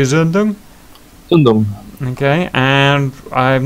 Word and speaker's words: Zündung: Zündung.